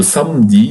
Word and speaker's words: samedi: Le samedi, pay attention here, we don't pronounce the E here.